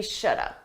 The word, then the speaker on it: should have: Notice I said we shoulda. We shoulda had. Should have. Native speakers, we combine this to sound like shoulda. Shoulda. Notice that L is silent.